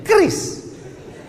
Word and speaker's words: QRIS: Cara bacanya gimana sebetulnya? Kris.